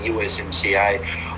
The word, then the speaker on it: USMCA: uh, which was the USMCA. I always like to think it rhymes with YMCA, the song.